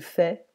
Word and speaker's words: fait: Je fais, tu fais, il fait, don't pronounce the T.